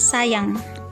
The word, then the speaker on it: sajang: dengan huruf j misalnya penulisannya Sajang tetapi pelafalannya sayang penulisannya zakin tapi pelafalannya